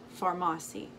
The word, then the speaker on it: Farmasi: beauty influencer with pharmacy i think i was saying it wrong in the last video but it's pharmacy this is what the